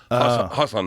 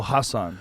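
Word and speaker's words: Hasan: like I think there's an emphasis on the first part. It's Hassan. Oh, Hassan.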